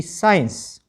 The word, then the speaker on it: science: तो SCEN, ठीक है, SCENE, सीन, SCIENCE, साइंस, और SCENT, सेंट, SCHEDULE, शेड्यूल।